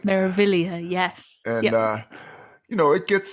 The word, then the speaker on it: Meraviglia: Meraviglia, yes.